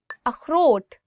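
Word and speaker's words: اخروٹ: Akhrot, walnut. Akhrot. So this word khe, it also comes from your, I would say like throat. So you'll really have to do is like akhrot.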